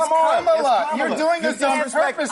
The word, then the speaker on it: Kamala: Let me actually pronounce her name right. Kamala Harris. If Kamala. You said it was Nancy. It's Kamala.